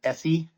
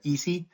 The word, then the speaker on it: Eesee: It is Eesee, right? It's not Essie. I want to confirm the pronunciation there. Eesee?